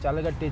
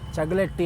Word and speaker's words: ಚಗಲಟ್ಟಿ: ನನಗೆ ಅದು ಗೊತ್ತಾಗ್ತಾ ಇರ್ಲಿಲ್ಲ ಚಗಲಟ್ಟಿ ಅನ್ನೋದ ಚಲಗಟ್ಟಿ ಚಲಗಟ್ಟಿ ಅಂತ ಇದ್ದೆ ನಾನು ದಯವಿಟ್ಟು ಕ್ಷಮೆ ಇರಲಿ ಅದನ್ನ ನಾನು ಚಲಗಟ್ಟಿ ಅಂತ ಹೇಳಿದ್ದೆ ಅದು ಚಲಗಟ್ಟಿ ಅಲ್ಲ ಅದು ಚಗಲೆಟ್ಟಿ ಅದು ಚಗಲೆಟ್ಟಿ ಆಯ್ತಾ ಅದು ಬಂದು ಸರ್ವೆ ನಂಬರ್ಟ